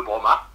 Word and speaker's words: Brommat: Alors, c'était dans l'Aveyron, sur la commune de Broma, voilà, dans un petit lieu-dit aux alentours. Broma, ça s'écrit comment?